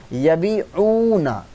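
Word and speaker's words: يبيعون: And if it is not also jama, because if it is jama, then we need to pronounce with waw noon, that is yabi'una.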